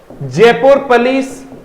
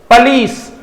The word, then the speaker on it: police: कुछ इसको पॉलिस बोलते हैं, कुछ इसको पुलिस बोलते हैं। फोनेटिकली देखें तो आप इसको देखिए, फोनेटिकली देखिए इसको आप, ये रहा पुलिस। पुलिस नहीं होगा, पॉलिस नहीं होगा, ठीक है ना, इसको बोलेंगे पुलिस।